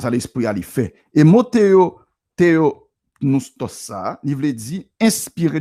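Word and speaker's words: θεόπνευστος: Eh bien, le mot grec que Paul utilisait pour inspirer dans le passage ça, c'est theopneustos.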